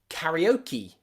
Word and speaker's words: karaoke: believe peace and briefcase finally there are some special words in english where e is at the end of the word and it's pronounced e usually they're words that